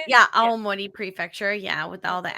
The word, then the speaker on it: Aomori: It's up in Aomori. Is that how you say it? Yeah, Aomori Prefecture.